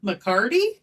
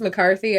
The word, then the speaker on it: McCarty: yeah mccarty yeah could also be pronounced mccarthy i saw both but even mccarthy i'm